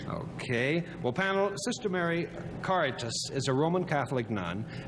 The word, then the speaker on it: Caritas: I want to give it a Spanish pronunciation. But don't. But don't. It is Latin. Caritas.